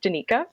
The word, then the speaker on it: Danika: It's actually pronounced Denika, but don't worry about saying Danica the whole time.